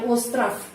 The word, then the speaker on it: остров: Остров, kita menulis остров, tapi bacanya остров, F ya, остров. Pulau остров, остров, bukan остров, ya остров.